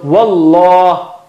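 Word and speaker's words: والله: you say it like the English word something like law. You practice law or lawyer. You don't say liar, or liar will become something else. You don't say liar or la, you say law. So wallah, it's thicker.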